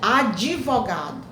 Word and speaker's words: advogado: Então, vamos ter cuidado ao pronunciarmos, escrever, pronunciar advogado, advogado, não é adi, não tem o i, o d é mudo, é advogado, né?